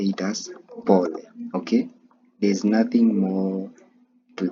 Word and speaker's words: pole: So, sorry in Swahili is pole. Okay? Pole. So, pronounce it as pole then the whole pronunciation pole.